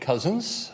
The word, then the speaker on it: Cousins: My name is Cousins. I know it's spelt a little strangely, but it's just cousins as in brothers and sisters.